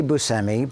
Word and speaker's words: Buscemi: Well for years I feel like it was Bushi. Everyone was saying Bushi Bushi. Right. I I say busi but I don't but bushi is the you know the Italian way to pronounce so it's not wrong.